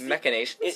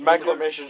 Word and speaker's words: machinations: Oh, it's machinations. That's what it is. It's the maclamations just sounds. The hell? Well, then what is a maclamation? Maclamation isn't a word. Regardless, it's amazing. We've been saying it wrong this whole whole time.